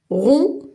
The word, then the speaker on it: rond: Alors, on a ici les mots rond. Et je ne lis pas le D. Rond, quelque chose qui est rond.